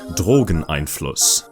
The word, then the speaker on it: Drogeneinfluss: It's pronounced like Drogonos. Yes, thank you. Drogon Einos is a Quake mod made by Jane, known for her critically acclaimed HalfLife mod, New Year's 2004.